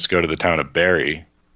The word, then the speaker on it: Barre: And the passenger is starting to get annoyed because he knows damn well it's pronounced Barry.